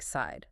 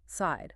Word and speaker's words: sighed: The gh is silent. It sounds like side. Side.